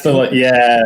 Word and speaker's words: tinnitus: Is that how you pronounce it? Yeah, Tinned, that's tinnitus.